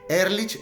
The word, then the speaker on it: Ehrlich: Ehrlich se escribe E-H-R-L-I-C-H, Ehrlich, ¿ok?